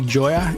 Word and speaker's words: Gioia: before we started recording is it Joya is that the right way to say your